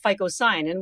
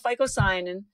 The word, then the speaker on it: phycocyanin: It has a blue pigment, which is called phycocyanin, which you've never probably heard of before. So I'm going to even spell it for you so that you can go online. It's P-H-Y-C-O-C-Y-A-N-I-N.